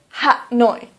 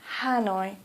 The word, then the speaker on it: Hanoi: so for example Hanoi please don't say hat noi police say Hanoi or for example Calcutta